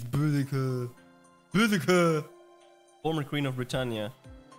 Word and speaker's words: Boudica: Fuck, I don't even know how to pronounce that. Let me ask Google. Boudica. Boudica. Boudica. Boudica. Boudica. It's Boudica.